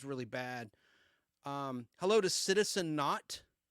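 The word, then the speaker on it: Naught: Hello to Citizen Not. Not is spelled N-A-U-G-H-T, like an Argonaut or an astronaut.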